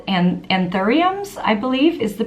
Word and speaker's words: anthurium: This one is not made out of meat, it is made out of flowers, and specifically, they're called anthuriums, I believe is the pronunciation, and it's a headpiece and a dress,